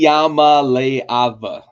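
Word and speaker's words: Iamaleava: And we had Nico Amalivia because I know you pronounced it. You spelled it out to me phonetically. Yamaleava is how they were guy.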